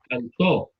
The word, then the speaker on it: cantó: Cantó. ¿Es llana o aguda? Según la están escuchando.